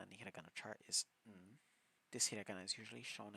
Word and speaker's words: ん: In some words, it sounds like a hard N, but in other times, it can sound like a M.